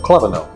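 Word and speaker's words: Klewno: of the name of clo spelled kle e w n o kind of strange huh but it's German so the W is pronounced with a V and they kept that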